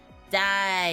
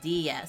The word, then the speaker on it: Diya: even more like it if you say your name wrong like die yeah instead of Dia so it is Zia